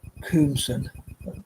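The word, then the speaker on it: Koomson: Dorothy Coomson, pronounced her name right, spelled K-O-O-M-S-O-N.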